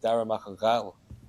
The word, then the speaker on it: Darragh Mac AnGhaill: Like we have like even how you say my name, like my name, like Darragh Mac AnGhaill, like that's in the throat, like Ghal.